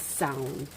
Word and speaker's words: Samhain: It's taken me quite a long time to get the pronunciation of this one right, but I'm pretty sure it's Samhain.